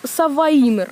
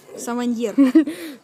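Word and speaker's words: Savanier: Савайнер. Ну. Саваньер. Саваньер. Круто. Хотя бы Степа знает, как правильно произносить.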